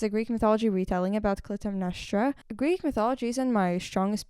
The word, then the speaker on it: Clytemnestra: This is, praying that I say it correctly, Clytemnestra.